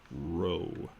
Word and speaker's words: rho: I'm not going to kid anybody about that, but it's pronounced row, as in row your boat.